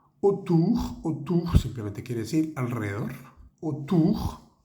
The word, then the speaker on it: autour: Autour, A-U suena O y la O-U suena U.